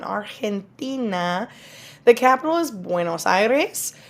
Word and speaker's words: Argentina: countries so we have Argentina artina remember that g makes that H sound artina the capital is buenos